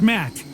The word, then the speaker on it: Matt: not an inch less the name's matt the second t is silent sounds like an interesting